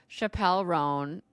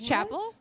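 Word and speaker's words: Chappell Roan: to blow up called Chappelle rone is that how you pronounce her name I think so okay cuz I've never oh it's not what is it Chapel it's Chapel okay Chapel rone I've never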